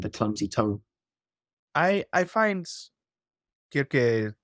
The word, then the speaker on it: Kirke: I find Kirke, Cersei, it's always going to be this double pronunciation because we most commonly call her Cersei, but she is Kirke.